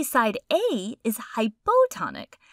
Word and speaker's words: hypotonic: We say side A is hypotonic. Hypo rhymes with low, which helps me remember that it's the low solute concentration when compared to side B.